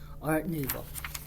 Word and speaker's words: art nouveau: spelling it out but remember how to say it new vo like a moo like a cow but art nouveau so gossip clumped art